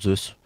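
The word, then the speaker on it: SEUS: On prononce Zeus.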